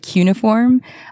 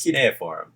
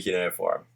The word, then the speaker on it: cuneiform: ever seen written, and some people pronounce it like cuneiform. I don't never know. No, it's cuneiform. Thank you. It has to be cuneiform. Why is the I there if it's not cuneiform?